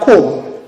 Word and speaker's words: comb: And the last one, we have comb. Most people usually pronounce comb, which is wrong. The B after this M is silent, just like in any other English words, like plumber.